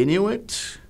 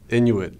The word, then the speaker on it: Inuit: Are there any alternate pronunciations? Of Inuit? It's just really Inuit. The thing that comes next, it's a... Inuit. I-N-U-I-T, Inuit.